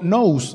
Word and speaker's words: nous: cantar con un entendimiento usa la palabra que viene del griego nose así como es como se escucha se escribe nous n s nose que quiere decir mente